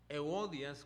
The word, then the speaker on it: Evodia: que es el marido de evodia o euodias como se pronuncia en griego ahora el nombre de